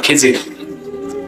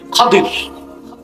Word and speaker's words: খাদির: এক বান্দা, তার নাম খাদির, যাকে আপনারা এখন খিজির। ওনার আসল নাম কি? খাদির। শুদ্ধ উচ্চারণ কি আমরা বলি?